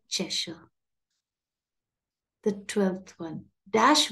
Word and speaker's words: Cheshire: and the Cheshire Cat not Cheshire but chesha the 12th one dash